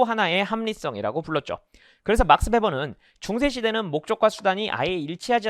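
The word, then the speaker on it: Weber: W인데 베버라고 발음을 한다는 것 자체가 이 사람이 폭스바겐 뭐 이런 식의 발음에 가까운 거죠. 폭스바겐이잖아요. 원래 저 폭스와겐 아니겠습니까? 그래서 독일어에서는 W를 V 발음을 이제 하는데 정확하게 V 발음은 아니지만 하여튼 그렇습니다.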